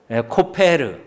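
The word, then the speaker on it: כֹּפֶר: 코페르. 이제 진짜 난이도 높은 건데, 칠하다가 히브리어 뭐라고요? 카타르요? 카파르. 그러니까 이 말씀을 보면요, 너는 코페르 나무로 너를 위하여 방주를 만들되 그 안에 칸들을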